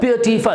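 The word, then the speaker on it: beautiful: लेकिन जब ये किसी शब्द के बाद में इसको जोड़ा जाता है, जब इसको किसी वर्ड के बाद में जोड़ा जाता है तो इसका एक एल डिडक्ट हो जाता है, इसका एक एल हट जाता है और जिस कारण से ये रह जाता है फल।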